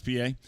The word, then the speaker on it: Pie: ball one to felix pa pierre was on the inactive list for a while good to see him back in uniform and swinging the bat out there name spelled p-i-e pronounced p-a and there's a strike